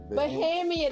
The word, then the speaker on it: Bahamian: Bahamian, the long A.